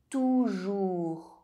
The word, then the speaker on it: toujours: OU is pronounced OU. You can be written with or without an accent. Lourd. Toujours. Coup.